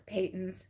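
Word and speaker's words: Patons: it pronounced and so I wasn't sure if it was patents or patents or um but yeah he confirmed that it was Peyton's so now I know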